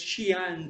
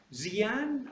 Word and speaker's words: Xi'an: Are they going to say Xi'an? Are they going to say Xi'an, okay? Because they don't know how to pronounce X as sh, okay?